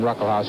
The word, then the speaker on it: Ruckelshaus: The first S in his name is pronounced, it's silent. William Ruckelshaus, who's the majority leader, he's just 35 years old.